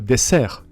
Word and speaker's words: dessert: Same word, same writing, but a very different pronunciation. A dessert is a dessert in French.